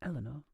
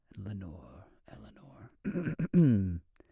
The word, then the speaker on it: Eleanor: I love how Americans pronounce Eleanor, because you have so much ASMR. The English version sounds bland compared. Eleanor. This one reminds me of Edgar Allan Poe. Eleanor.